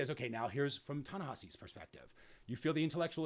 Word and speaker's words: Ta-Nehisi: So I always want to say Tallahassee because that's an easy way for me to remember how to pronounce this name, but I believe it's Ta-Nehisi.